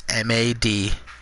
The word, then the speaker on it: Madubuike: So I have them taking the 6'3", 304-pound defensive lineman, Justin Madabuke. I can never say his name right. But if you guys aren't familiar with it, it's Madubuike.